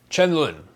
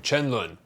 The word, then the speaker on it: 沉沦: Chen Lun is how you say the original name. Chen Lun.